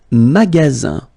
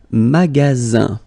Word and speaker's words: magasin: Le magasin, le magasin, okay, remember you've got only one S between two vowels. Then you get the sound Z, alright?